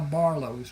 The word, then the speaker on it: Barlos: And that is how Barlos was born. The name was not a problem for the people in southern Louisiana because the French Ocadian influence. It is pronounced Barlo.